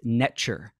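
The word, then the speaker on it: netjer: It's spelled NTR. It's pronounced netcher. It means creation.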